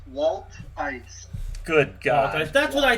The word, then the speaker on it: Wolthuis: How do you pronounce that? It's Wolthuis.